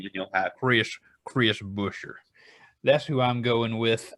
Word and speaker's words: Buescher: Is it Buescher? Buescher. Chris. Even better. Even Go better. with the Chris most NASCAR Buescher. way to say the name, and you'll have Chris Buescher.